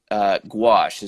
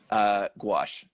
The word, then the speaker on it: gouache: You'll have to correct me if I mispronounce this, but you are the only artist at Project Onward that works with gouache.